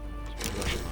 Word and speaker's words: Hiroshima: Hiroshima f is we actually say Hiroshima Hiroshima is the English way of pronouncing I believe Republican